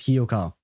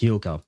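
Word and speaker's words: Hyouka: Oh, I loved Hioka. It's supposed to be pronounced Hoka.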